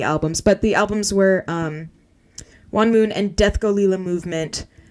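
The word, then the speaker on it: Huon Moon: It's Juan Moon. Michael, it's spelled H-U-O-N-M-O-O-N.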